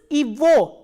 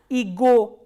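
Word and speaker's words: его: इज in this combination this ग is pronounce S व नॉट एज ग सो how will you pronounce this इवो नॉट एस इगो so from own एंड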